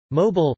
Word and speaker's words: Mobile: Mobile, Mobile, French pronunciation, M.Bill, is the county seat of Mobile County, Alabama, United States.